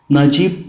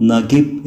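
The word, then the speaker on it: Naguib: നജീബ് എന്നോ നഗീബ് എന്നോ രണ്ട് രീതിയിലും ഈ പേര് ഉച്ചരിക്കാറുണ്ട്. ഒരു അറബിക് നെയിം എന്ന രീതിയിൽ നജീബ് എന്ന ഉച്ചാരണത്തിനാണ് ഏറെ സ്വീകാര്യത.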